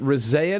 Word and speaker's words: Rezaian: Is it Rezaian? Is that how I pronounce Jason's last name?